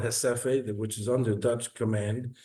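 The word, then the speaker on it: Recife: One was called, it's written Reciffe, it's pronounced Hesephe, where the Jewish people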